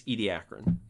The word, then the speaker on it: Ediacaran: The Ediacarian is sometimes also used, but usually it's Ediacaran.